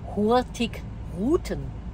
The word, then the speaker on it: Hurtigruten: Das heißt natürlich Hurtig. Ruten. Und da ist eine. Hurtigruten heißt es.